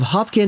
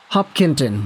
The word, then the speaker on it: Hopkinton: 81 points a native of Hopkin Massachusetts is that pronounced that right Hopkinton my goodness I apologize